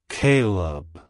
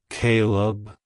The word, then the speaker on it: Kaleb: language it's pronounced as Caleb Caleb Caleb to pronounce it correctly emphasize the first syllable k y and pronounce the second syllable Leb as in lemon like hello Caleb goodbye